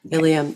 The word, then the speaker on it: Ilium: tell listeners please what ilam is about am I pronouncing it right ilam yeah ilam ilam okay so the title